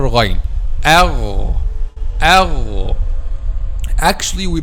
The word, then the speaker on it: Ghayn: the letter Ghayn, okay, from the beginning of the throat, which is nearest or closest to the mouth. And I will tell you a secret to be able to pronounce letter Ghayn. Letter Ghayn is like the sound of gargling, like the sound of gargling.